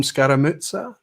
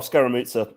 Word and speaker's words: Scaramucci: been joining us scaramucci is that nice great job now that's spot on how would you pronounce it uh well scaramucci um english present uh english pronunciation and it's an italian name is it yeah i'm